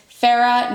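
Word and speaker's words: Feyre: And this begins with our main protagonist, Farah, not spelled like Farah, aka Farrah Fawcett, spelled kind of like Faye, because we're dealing with Faye, and that was a little bit on the nose, but it's fine.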